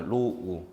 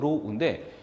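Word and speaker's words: ρ: 그러면은 여기서 우리는 요 놈을 읽을 때 로우라고 해서 로우 이름을 적을게요. 그래서 우리는 요걸 읽을 때는 로우입니다. 예, 읽는 방법 로우인데 그럼 이게 바로 뭐냐? 이게 바로 고유저항이에요. 고유저항. 다시 요걸 읽으실 때는 로우입니다. 로우라고 읽고 이게 바로 뭐냐?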